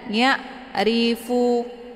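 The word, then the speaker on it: يعرفون: Karena ain ini dia sifatnya tawassut. Mana tawassut itu pertengahan antar ditekan dan ditahan. Jadi bacanya dialirkan saja. Ya'ri. Dan ain ini bacaannya lunak. Jadi jangan ditekan, jangan ya'rifu. Itu bacaan yang salah. Tapi dialirkan. Ya'rifu. Ya.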